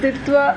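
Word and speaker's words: Ditwah: இதுக்கு தமிழ்ல எப்படி ப்ரொனவுன்ஸ் பண்ணுவாங்க? டிட்வாவா டிட்வாவா, டீ போடுவோமா டீ? இந்த கேள்வி நிறைய பேர் கேக்குறீங்க. ஆக்சுவலா பார்த்தா ஏமன் நாட்டை கேட்டாதான் அதோட கரெக்ட் ப்ரொனவுன்சியேஷன் தெரியும்னு நினைக்கிறேன். நம்ம வந்து தித்வா அப்படின்னு சொல்லி தீயும் போடலாம், டியும்.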